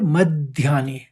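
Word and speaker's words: मध्यानि: देखिए व्यक्त फिर मध्यानी पहले म द निकालेंगे फिर ध्यानी कहेंगे जब भी ध आता है तो द का आघात लेते हैं ये आपको समझना था पहले भी बता दिया व्यक्त मध्यानी आप पहले द निकालेंगे फिर ध्यानी एक साथ पढ़ेंगे और भारत तो ठीक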